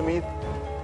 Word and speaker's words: Meade: Se escribe Miade, pero se dice Mid.